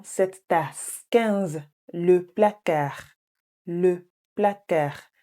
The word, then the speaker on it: placard: Le placard. Please note that the D is silent. It's not placard. It's le placard.